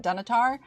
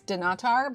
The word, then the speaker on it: Dunnottar: I went to I always pronounce it wrong cuz my instinct is I want to pronounce it Dunottar, but that's not it. It's Dunnottar, but I went there